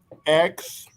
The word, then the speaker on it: Xochipilli: It's pronounced XOCHIPILLI.